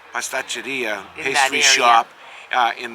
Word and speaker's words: pasticceria: Pasticceria. Pasticceria, In pastry that shop in this area over here, and the Finicaros.